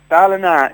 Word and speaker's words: Ballina: So, take us back to where it all started, back in, is it pronounced Ballina? Ballina. It's the same as Ballina up the coast.